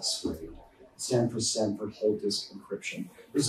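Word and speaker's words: SWDE: You might need to run some software that we provide, like the so-called SWADE, S-W-D-E, we all pronounce it SWADE.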